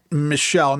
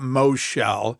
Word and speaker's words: Michelle: FIRST OFF, IT'S MICHELLE, not Moshe.